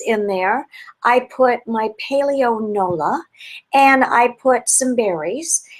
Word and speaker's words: Paleo Nola: So one of the granolas that my husband, Stephen Roplat, actually found is a company called Paleo Nola. So it's spelled, I'm going to put my glasses on, P as in Paul, A-L-E-O, N as in Nancy, O-L-A.